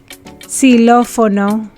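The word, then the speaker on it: xilófono: woo egg kiss if a spanish word begins with a keys the ekkis is pronounced like an s just like in english si lo fono when the ekis is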